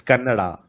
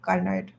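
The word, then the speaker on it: Kannada: It's Canada. Canada. Yeah. Thank you. See this is the importance. I learned how to pronounce cuz in here people say carnard carnara.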